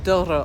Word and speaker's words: Douro: place looks like this the dur Val Valley or Doro Valley as I've learned it's pronounced you can see why